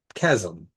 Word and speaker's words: Chasm: Then we see Chasm, right? You just don't pronounce the H.